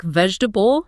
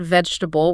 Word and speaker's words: vegetable: We say something like vegetable, not vegetable, with four distinct syllables.